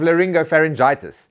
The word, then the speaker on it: laryngopharyngitis: Let's just start with the URC, before I get another version of laryngopharyngitis, which is apparently how you pronounce that.